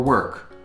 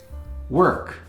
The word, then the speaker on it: work: Work, I hear this one mispronounced by English students a lot. They pronounce it work because it's spelled work, but it's pronounced work with an E sound.